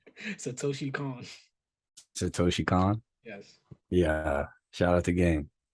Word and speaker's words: Satoshi Kon: this movie is amazing the director's name I tried to pronounce it earlier and I was sounding like Kendrick Perkins it's Satoshi Khan Satoshi Khan yes yeah